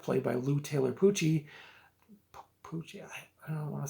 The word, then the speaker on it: Pucci: adaptation Lou Taylor cochi it's spelled p-u-c-c-i poochie I think he's been